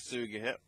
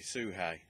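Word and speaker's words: Sugehit: So, we start off with Kaylee Ray versus Princess Suga. And... oh, sorry, Suhei. That's how it's pronounced.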